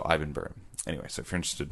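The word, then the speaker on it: Ibbenbüren: Ibbenbu with the dots over it, REN. So Ibbenburen.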